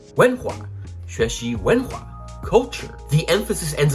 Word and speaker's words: 文化: The second and fourth tone. 文化, 文化, like a roller coaster.